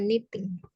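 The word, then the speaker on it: knitting: chat ya Oke miss Oke kniting tulisannya Ada k-nya tapi dibacanya niting Oh bacanya niting Ya knya itu enggak dibaca atau kita sebutnya silence ke Oh oke eh Which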